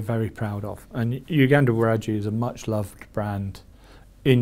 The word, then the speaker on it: Waragi: Yeah, so I think the pronunciation is Waragi, but I might be wrong.